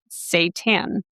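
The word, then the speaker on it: seitan: ginger garlic, and kamboo, it is called sat satan. The pronunciation says s a y- tan.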